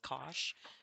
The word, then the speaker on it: Kock: Even though she says it's pronounced Kosh, it doesn't look like Kosh.